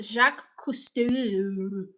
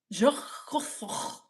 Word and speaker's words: Jacques Cousteau: Betty Hembry says it's pronounced Jacques Cousteau. Very well-known sea explorer. Whatever, I do my own exploring. Cousteau. Jacques Cousteau. Like that. Jacques Cousteau.